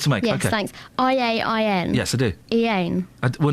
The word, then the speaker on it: Iain: I-A-I-N. Yes, I do. Iain. Well, no, that's not... Well, that because it's a silent I.